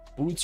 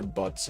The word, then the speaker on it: Boots: Boots or butts? I say it's boots. They say boots. Even though it looks like butts, I think maybe Indonesian pronunciation is boots.